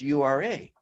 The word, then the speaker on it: Ura: So after several confirming, reconfirming, it's U-R-A.